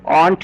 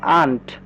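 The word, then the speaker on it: aunt: এবার একটু খেয়াল করতে হবে এখানে কিন্তু এ ইউ এর উচ্চারণ আ হবে। এখানে কিন্তু অ হবে না। এটা কিন্তু অন্ট না। এটা পড়তে হবে। আন্ট।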